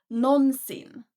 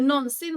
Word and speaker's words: någonsin: And here again, pay special attention to the pronunciation because you can of course say någonsin. However, when you speak fast, it sounds like någonsin. Har du någonsin varit i Sverige?